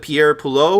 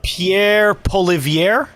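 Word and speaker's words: Pierre Poilievre: United States and Canada will you see with Pierre pulo or did I pronounce his name correctly Phil I'm sorry Pierre uh Pierre poier thank you bro I appreciate it yeah so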